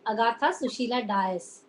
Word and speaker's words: Agatha Susheela Dias: Let me pronounce my name properly. Agatha Sushila Vyas.